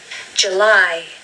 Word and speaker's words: July: Now the stress is on the second syllable with this word. July, July. Now we do not want to hear July. No, not July. You really just need to make the sound of J.